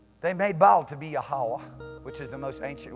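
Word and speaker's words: Yahweh: to say it they made ball to be yahwah which is the most ancient way to pronounce his name and Ashera his prostitute to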